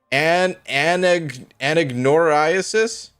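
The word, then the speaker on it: anagnorisis: term for that is anagnoriasis. All right, let's take it to Google. That was my my best guess. Let's see. Anagnoriasis. Okay, I wasn't saying it correctly either, but close enough.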